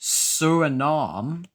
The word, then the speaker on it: Suriname: It's pronounced Suriname.